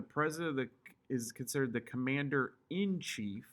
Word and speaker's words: commander in chief: You have the president that is considered the commander in chief. It's not and chief. People say it wrong all the time. It's actually commander hyphen in hyphen chief.